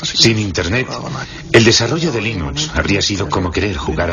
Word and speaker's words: Linux: se pronuncia limón bueno yo linux lo pronuncio líneas sin embargo si fuesen linus torvalds no hay duda de que lo pronunciaría linux 2 claro que sí unos de la costa oeste de los eeuu lo más seguros telo pronunciaría lines pero a linus torvalds le importa un bledo cómo pronuncia es linux siempre y cuando lo